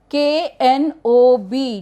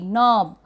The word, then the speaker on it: knob: K-N-O-B, knob. Again K is silent here.